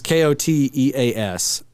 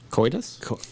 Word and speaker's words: Koteas: I'm not sure how you say his name. Casey Jones. Oh, yeah. It's Koteas. I think it's Coitus? No.